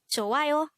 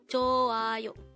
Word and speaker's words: 좋아요: JOAYO. JOAYO. This is pronounced as a three-syllable word.